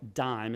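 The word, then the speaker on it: Disme: And when he was still in school and university, he wrote a little pamphlet called DIME. It's spelled D-I-S-M-E. And it basically introduced decimal fractions.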